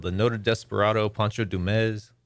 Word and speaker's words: Dumez: the noted desperado pancho dumez a lot of people say dumas but you gotta say it like ricardo montalban with the z yes yeah the noted